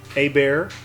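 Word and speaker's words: Hébert: that off you go a bear i'm pretty sure is how that's pronounced is he a louisianan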